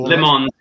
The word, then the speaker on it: Le Mans: Oh, Le Mans is pun intended. It is spelled like lemons.